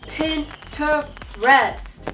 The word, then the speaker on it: Pinterest: this all the time pinterest three syllables say it with me pin to rest it's just such a